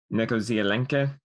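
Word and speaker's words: Něco z Alenky: in check this time nekozialenke with a bit of an sound at the end instead of an e okay it translates out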